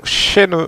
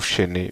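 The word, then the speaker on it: Shenhe: cheveux argentés nous révèle son prénom Shen, voilà, ou Chené, prononcez-le comme vous voulez.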